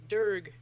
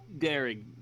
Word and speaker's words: Dearg: Durg, sorry, what was it again? Pronounce it for me. Dirk? Derek. Derek. Think of it like Dearg.